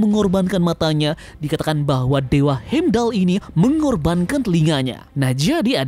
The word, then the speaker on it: Heimdall: Sosok tersebut bisa jadi adalah Dewa Heimdall. Nah, ada beberapa alasan terkait hal tersebut. Ini dimulai dari pelafalan dewa ini yakni Heim dan Dal. Pertama, Heim ini mirip dengan Hem.